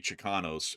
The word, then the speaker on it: Chicanos: So, I think that'd be Chicanos if that's pronounced properly.